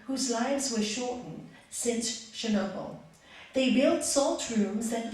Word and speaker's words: Chernobyl: I have received calls from yoga teachers throughout this country who know of my exposure to radiation and depleted uranium in Chernobyl.